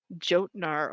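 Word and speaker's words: Jötnar: They pronounced the J a hard J in Skyrim. Yeah, I and know. it pissed me off. Jotnar.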